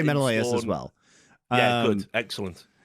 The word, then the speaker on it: Menelaus: Patroclus, Menelaus, it's Menelaus.